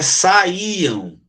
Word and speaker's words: saíam: Aqui é saíam. Ó, saíam. O I aqui, ó, ele não separou do A. Lembra que eu disse que quando o I separa do A, ele tem um acentozinho para mostrar que ele é forte, né? Ele se formou uma sílaba. Então, aqui, ó, saíam. Mas aqui é saiam. Saiam. Ó, saíam, 3, mas saiam, 2.